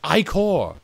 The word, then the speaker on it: ichor: That is pronounced ichor.